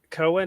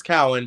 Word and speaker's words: Cowan: here with um Cohen am I saying your name correctly sure it's Cowin but it doesn't matter everyone mispronounces it it's fine Cowan